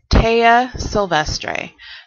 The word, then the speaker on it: Taya Silvestre: So the way you pronounce my name, in case you haven't figured that out yet, is Taya Silvestre.